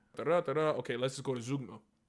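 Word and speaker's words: zeugma: Okay, let's just go to Zugma. It's pronounced Zoigma.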